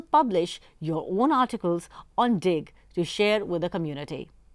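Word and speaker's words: Digg: Dig, which is spelled as D-I-G-G.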